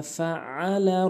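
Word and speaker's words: فعل: এখানে অধিকাংশ লোক আলাম তারা কাইফা ফাআলা বলে, ফাআলা আইনের জায়গায় হামজা এনে উচ্চারণ করি। যারা আইনের জায়গায় হামজা এনে উচ্চারণ করে তাদের নামাজ ভঙ্গ হয়ে যায়।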